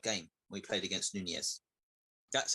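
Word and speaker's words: Núñez: That he gave us a hard game when we played against Nunez. That's how you pronounce it, guys. Nunez.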